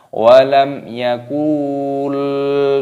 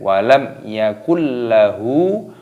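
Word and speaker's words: ولم يكن له: berdengung Yakult Yakult lah Jangan dibaca walam Yakul tidak boleh walam Yakul lahu punya dibaca panjang walam yakullahu kufuwan kufuwan fathah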